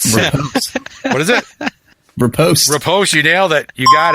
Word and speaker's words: riposte: Riposte.